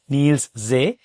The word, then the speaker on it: Niels Zee: My name is Gundep Singh and today I have Neil's Z. I hope I pronounce it right. Yeah, perfect. Perfect. Great. Well, you're one of the few that actually gets it right.